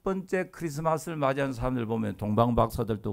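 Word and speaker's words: Xmas: 란 말에 찾자 거든요 그러니까 영어 표기로 x 마 살지라도 읽기 는요 크리스마스를 줘야 됩니다 x 마스 얼반 세상이 없습니다 이 크리스마스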